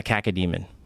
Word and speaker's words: cacodemon: A cacodemon. Caca? What's the spell it?